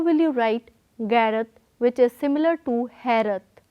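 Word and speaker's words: ਗ਼ੈਰਤ: Now I ask you, how will you write Gairat, which is similar to Hairat? Note the sound carefully. Gairat, not Gairat. So we have sound of Gagge Pair Bindi G, not Gagga G.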